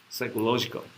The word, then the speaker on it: psychological: get some shock psychological it's like psychological you don't pronounce this pseudo psychological these are uh crucial